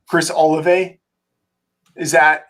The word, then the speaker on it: Olave: And so one is, and I never know how to say his name, Chris Olave. Is that how his name is pronounced? I think we say Olave.